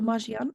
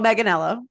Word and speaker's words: Manganiello: love, like, I mean, How do you pronounce his last name? Joe Maggiano?